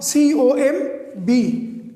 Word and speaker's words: comb: C-O-M-B. Comb. So now there is M before B. B is on the final position and M is before B. So now the B is silent.